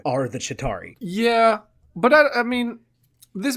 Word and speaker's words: Chitauri: who the Chitauri are how do you say to tari Chitauri is it with a